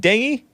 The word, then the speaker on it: dengue: is that how you pronounce Dengue it's it's pronounced dangy d-e-j-d-e-n-g-u-e a debilitating viral disease of the tropics